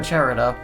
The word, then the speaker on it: Gerudo: Gerudo or Gerudo? It's Gerudo. Gerudo Valley.